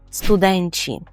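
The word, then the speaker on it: studenci: запам'ятати форму множини студенти дуже неочевидна форма польської звучить як студенчі студенчі студент але студенчі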